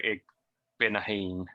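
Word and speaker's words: Igbinoghene: to go with very methodical soft and go ig binahin always go hard phil eight monogamy you had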